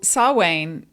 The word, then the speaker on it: Samhain: holiday known as sawain it looks like it's spelt samhain yeah samhain and i go back way back into high school um so saw wayne is we'll talk about that